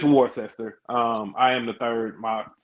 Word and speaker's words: Worcester: Name Worcester for all the people that are trying to read it and don't know how to pronounce it. It's Worcester if you Or need to Esther.